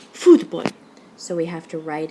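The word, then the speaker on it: fútbol: write in the accent take a look at this final example it ends in an l so it's a rule two word if there were no written accent mark on it you'd follow rule two with the stress on the last syllable and you'd say futbol it's very exciting word it almost sounds kind of german but what we say is foodboy so we have to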